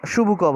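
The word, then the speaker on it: Чубуков: উচ্চারণটা শুবুকভ হবে, কারণ রাশিয়ানরা চয়ের উচ্চারণটা শয়ের মতো করে, তাই জন্য উচ্চারণ হবে স্টেফানোভিচ শুবুকভ।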